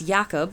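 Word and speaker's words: Jacob: 1522 transferred into English the German J which has the sound of I or Y intending us to pronounce yakob or uh or ycob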